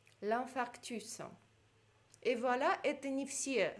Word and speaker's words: infarctus: Дальше, le processus, процесс, какой-то ход действия, le processus, S читается, l'infarctus, S тоже на конце читается. И voilà, давайте все прочтем. Le cassis, Metz, l'anana, l'ananas, le consensus, le consensus, le processus, l'infarctus.